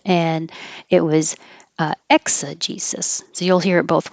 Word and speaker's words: exegesis: But in this word, Both of these S's sound like S's.